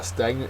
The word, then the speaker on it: stagnant: one is stagnant uh stagnant is an adjective first syllable is accented it is not running